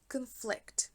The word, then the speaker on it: conflict: Znači drugi slog je akcentovan. Conflict. Vidite da je prvi koji je neakcentovan kratak, brz, conflict. I onda drugi naglasimo. Podignemo malo ton, visinu tona, produžimo, odužimo ga i akcentujemo.